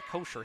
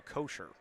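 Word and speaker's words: Koisher: inbound pass comes in to kosher k o i s h e r is how you spell it now to Fleming and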